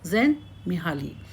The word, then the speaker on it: Csikszentmihalyi: उच्चारण की जाँच करें, क्योंकि ' C' का उच्चारण—यह पूरी तरह से क्या है? चुपचाप। तो, इसे मूलतः क्या कहते हैं? Csikszentmihalyi.